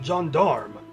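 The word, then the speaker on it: Gendarme: The plan now is to continue up Mount Jondarm to finish up the climb. It's pronounced that way.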